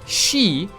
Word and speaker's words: 四: for the number 4, she, is pronounced the same as the kanji for death, again, she.